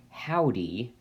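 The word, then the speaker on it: Hovvdy: HOV vdy but is pronounced howdy like like a cowboy so this is a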